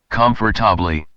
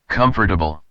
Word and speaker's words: comfortable: Take the word comfortable. Many learners pronounce every part carefully, comfortably, but in everyday American English, you'll often hear something closer to comfortable. The word becomes smoother.